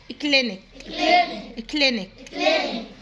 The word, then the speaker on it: clinic: عيادة كلينيك، صوت السي ك، حرف الكي يعني في الأول وفي الآخر.